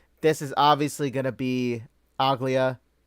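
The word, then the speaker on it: Aglaea: This is obviously gonna be Aglia, right? Aglaya. Is that how you pronounce? Yeah, Aglaya. That's how you pronounce her name. Aglaya.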